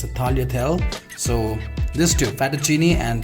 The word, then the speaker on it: tagliatelle: The pronunciation of this one is tagliatelle.